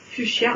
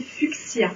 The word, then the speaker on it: fuchsia: Oui, même fuchsia. On ne devrait pas prononcer fuchsia, on devrait prononcer fuchsia.